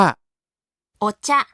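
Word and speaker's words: お茶: ชา เลย ชา ชา ภาษา ญี่ปุ่น ออก เสียง ว่า โอชะ โอ๊ จะ๊ อีก ที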